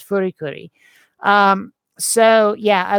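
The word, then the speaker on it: フリクリ: It's not Fooly Cooly. What the fuck? Yeah, FLCL. I don't even know how they want that one pronounced, but in Japanese, it's Furikuri.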